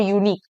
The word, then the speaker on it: unique: That is the use of the article and before unique. Unique. U से start होता है, vowel से होता है, लेकिन इसका जो pronunciation है, it's a consonant sound.